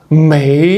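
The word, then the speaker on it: 美: So pay extra attention to the make or American because may is third tone. So you have to have the curve go down then go up a little bit or it sounds like you're from me.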